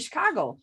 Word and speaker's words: Chicago: Yeah. That's how you say it. Chicago.